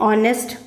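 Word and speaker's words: honest: ये एच जो है आपका साइलेंट है, तो इसीलिए हम इस ओ को देखकर यहाँ पर क्या पुट करेंगे? एन। एन, ऑनेस्ट।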